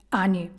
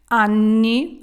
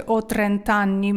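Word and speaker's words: anni: Ані люденьки мої милі коли говорите про вік вимовляйте стапя подвійнен бо воно там подвійне не просто так Анні роки тоді ви скажете отрентанні мені 30 років браві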